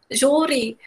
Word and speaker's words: júri: Júri. E aí, quando você diz júri, você sabe que o ju é o mais forte. É a sílaba mais forte.